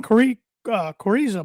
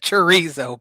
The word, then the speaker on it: chorizo: The episode title should be "Watch Tanner Pronounce" or "Listen to Tanner Pronounce Chorizo with a K."